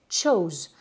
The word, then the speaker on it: chose: Et là, la différence entre le présent et le passé, ben, c'est la façon dont vous allez prononcer la voyelle. Choose au présent, chose au prétérit.